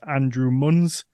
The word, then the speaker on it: Andrew Munz: ago and then his first time appearing is Andrew muns is that right did I pronounce that right Andrew I didn't check with